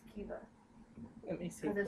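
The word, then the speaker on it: Caoimhe: This is pronounced Kiva.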